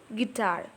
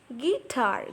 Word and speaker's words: guitar: compared to weak syllable for example guitar guar G is a weak syllable guitar guitar so G is a weak syllable and tar is a strong syllable comparing to G tar